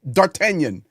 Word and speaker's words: D'Artagnan: Yeah, D'Artagnan. Yes. Uh That's how you say it properly. Thank you, JP. They They speak a French there.